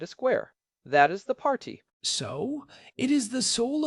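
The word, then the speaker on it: parti: The one that sounds like a party, but apparently is not. It is spelled P A R T I. The party pronounced par.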